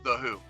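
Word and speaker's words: The HU: way the who is the who is spelled hu okay so not like who who goes there it's the who Okay holy [ __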